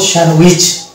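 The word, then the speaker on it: sandwich: লেটারকে আমরা দেখতে পাচ্ছি এখানে যদিও শব্দের মধ্যে ডি আছে অথচ এখানে ডি উচ্চারণে আসবে না আর এখানে টি আছে টি এ ট আসার কথা ছিল কিন্তু এখানে টি ও উচ্চারিত হবে না তাই এটা হচ্ছে এই দুটি লেটার এই শব্দের মধ্যে স্বামী শব্দের মধ্যে দুটি লেটার হচ্ছে অনুচ্চারিত লেটার বা সাইলেন্ট লেটার সেটা হচ্ছে টি এবং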